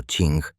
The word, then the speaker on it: Qing: El antiguo imperio chino, gobernado por la majestuosa e inmensamente poderosa dinastía Qing, pronunciado Ching, observaba con creciente y genuino terror el veloz surgimiento de este amenazante estado paralelo.